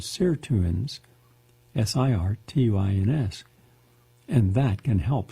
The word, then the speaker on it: sirtuins: can mimic estrogen to activate anti-aging proteins called sirtuins, S-I-R-T-U-I-N-S, and that can help slow down the aging process.